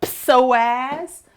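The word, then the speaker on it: psoas: life is called the pazazz. I like to say it funny because it's spelled with a P first like psychology and it connects from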